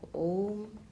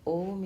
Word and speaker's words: Om: very particular about that, the pronunciation of Om, the projection of that sound for a long time. So that's what struck me, that Om in Om, that shouldn't be shortened.